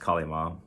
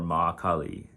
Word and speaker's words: Ma Kali: uh they eventually asked kalima or makali as the correct version of the name is is is both said and pronounced um kali mod is what i kind of got attached to but that's not necessarily exactly how you should say it ma kali is technically the right term but i don't really